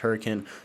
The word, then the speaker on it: Hurricane: come up here to hurricane or laverkin I don't know why it's pronounced that way but it is it's pronounced hurricane this is going to